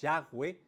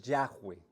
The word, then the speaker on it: Yahweh: yagüe la manera quizá más aproximada y correcta pronunciarlo es Yahweh Aunque lo traducimos más como llave o como Jehová de hecho la palabra Jehová es más inexacta el término Jehová porque es